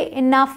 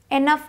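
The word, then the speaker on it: enough: आता है इ ठीक तो इसे इनफ बोलते हैं इनफ एनफ नहीं बोलते अब आते हैं टी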